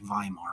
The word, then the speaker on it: Weimar: government called the Weimar Republic in German you pronounce a w with a sound Weimar Republic you could also say Weimar Republican people would know what you meant so